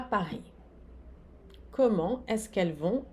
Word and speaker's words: Paris: O S aqui não se pronuncia, aqui o vont, o T não se pronuncia, Paris. O S não se pronuncia, comment?